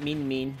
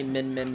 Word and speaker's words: Min Min: I've been pronouncing Min, it's Min Min, not Mean Mean.